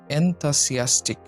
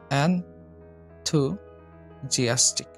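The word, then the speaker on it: enthusiastic: ১৩ নম্বরটা এটা আমরা উচ্চারণ করি এনথাসিয়াস্টিক, এনথাসিয়াস্টিক। এটার সঠিক উচ্চারণ হবে এনথুজিয়াস্টিক, এনথুজিয়াস্টিক, এনথুজিয়াস্টিক, এনথুজিয়াস্টিক।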